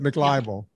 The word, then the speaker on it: McLibel: If you look up online, there's a lawsuit called McLibel. This would be back in the early 90s, McLibel. Spell that for us, Temple, so that we can. It's like muck, MC, and then the word libel.